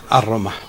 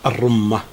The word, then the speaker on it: الرمة: استشهد بيت، طبعا ذكر انه شعر ومو بشعر، رجز، وقال انه هذا الرمه بالتخفيف وما يحق لنا نقول بالتشديد الرمه. فهذا مو بصحيح.